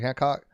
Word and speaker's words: Hancock: Hancock. And anybody, how do you want to pronounce? How do you pronounce that? Is it Hancock? Hancock, okay. Yeah, like John Hancock.